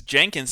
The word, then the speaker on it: Jenkins: Because Jenkins is pronounced with a J, whereas Jensen, the J sound makes the Y sound. But it's basically the same name.